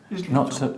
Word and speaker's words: Islington: Though, strictly speaking, his accent is Islington, North London. Islington. Ton. Islington. No stress on the tongue. It's schwa. Islington.